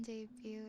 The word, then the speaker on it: debut: Remember the T in debut is silent.